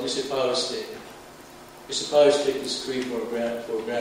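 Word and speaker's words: Misipawistik: And Phil asked me to pronounce the name of my community. It's called Mississippi.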